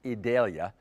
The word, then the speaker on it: Idalia: we think it's just about a given it will eventually be called idalia that's how it's officially being pronounced idalia and Adalia would will impact our weather it's